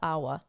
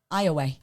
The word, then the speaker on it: Iowa: it's IOWA, but I would assume that the I is silent, so I would call it Awa, which is probably not right. Iowa. Iowa. Yeah. Nope. I want to call it Awa. It's Iowa.